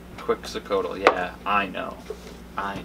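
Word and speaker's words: Quetzalcoatl: chocolate Chewbacca Cleveland Browns quak cotal who was cast away from the other God for sharing chocolate with humans pronounced quick cotal yeah I'm I know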